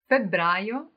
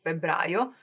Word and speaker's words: febbraio: Febbraio in Italia. Febbraio in Italia. So February is febbraio. Febbraio, double B, is the second month of the year, and it's actually full of events.